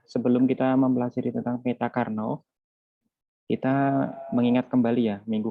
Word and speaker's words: Karnaugh: Bacanya memang Karnaugh, memang namanya seperti itu ya, yang menemukan teori tentang peta ini namanya Karnaugh.